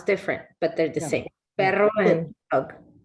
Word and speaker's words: perro: talk about even say, for instance, dog and perro. Did I pronounce that right?